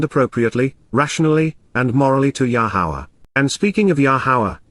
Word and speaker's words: Yahowah: generosity you are offering, Yahowah, Yahowah, the proper pronunciation of Yahowah, our Eloah, God as directed in his Torah,